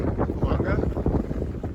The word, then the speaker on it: Fulanga: I'm saying it correctly, Fulanga.